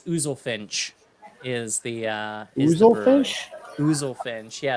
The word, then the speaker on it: Oozlefinch: Ouzelfinch, yes. How do you spell that?